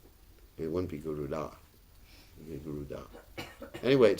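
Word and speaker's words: Garuda: right pronunciation is not guda it's guruda he has a you got to touch the tongue to the top of your mouth G that's not guruda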